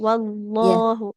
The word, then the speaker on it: والله: Hanya tadi sedikit di ini ya, di huruf lam di lafaz Allah. Ya. Wallahu. Jangan seperti ada waw sukunnya.